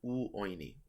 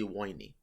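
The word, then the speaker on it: ⲟⲩⲱⲓⲛⲓ: The modern pronunciation is u oini. It used to just be woini.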